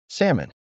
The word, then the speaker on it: salmon: Remember, the key is to completely skip that L. Don't even think about it. Just go straight from the A to the M. Salmon.